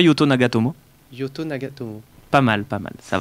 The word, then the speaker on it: Yuto Nagatomo: noir tout à l'heure tu n'as pas été bon sur la prononciation japonaise dis-moi hiroki sac elle dit moi yuto nagatomo pas mal pas mal